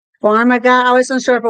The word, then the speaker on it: Farmiga: Eric, how do you pronounce the lady that played Lorraine Warren, her last name? Farmiga?